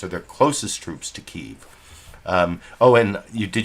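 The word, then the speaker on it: Kyiv: me the uh super chat contribution for correctly pronouncing keeve as one word i actually used to say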